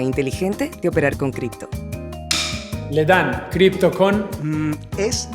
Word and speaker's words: Ledn: Ledn, cripto con... Es Ledn.